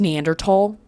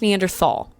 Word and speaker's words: Neanderthal: It is pronounced Neanderl. Okay, call me pretentious. I don't care. It's not pronounced Neanderthal. I know it has a th.